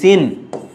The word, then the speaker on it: চিহ্ন: এর উচ্চারণটা হবে দেখো এই যে চিন। যেখানে থামে এবং কোন কার থাকে না সেখানে হস চিহ্ন বসে। আর বাকি হবে কি বলতো? হ। চিন এটি হচ্ছে উচ্চারণ।